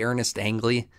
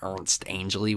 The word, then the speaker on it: Ernest Angley: I say Ernest Angley because that's how it's spelled, but he pronounces it Ernst Angley, which is stupid.